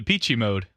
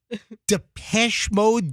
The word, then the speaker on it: Depeche Mode: You on the weekend shift, you've been calling Depeche Mode Peachy Mode, and nobody told you? That's how you say it. That's how it looks.